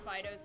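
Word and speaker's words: Fidough: It's Fido, but spelled like dough, like bread dough.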